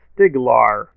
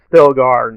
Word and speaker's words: Stilgar: And to be fair, the description didn't mess up Stilgar, but he called him Stiglar. Stilgar, not the other one.